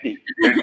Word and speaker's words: Khamenei: Khamenei.